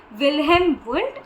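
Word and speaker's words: Wilhelm Wundt: Be very precise when you pronounce it even ताकि आप गलत आंसर्स ना दो एंड गलत स्पेलिंग्स ना लिखो। विलहम वुंट एंड विलियम James.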